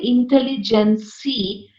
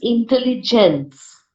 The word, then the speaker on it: intelligence: I would just want to actually remind you, don't say intelligency. If you mean INTELLGENCE, then you don't pronounce the E at the end. It is intelligence, right?